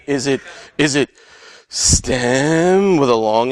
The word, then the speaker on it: STEHM: want people to say stem with an H yeah so we just pronounce stem or if you choose one of the other ones that you like feel free but we just decided that that seems to work the easiest for everybody so what